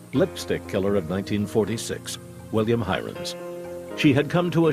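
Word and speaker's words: Heirens: was so heavily publicized somebody decided that the pronunciation was hearings and it just caught on when I came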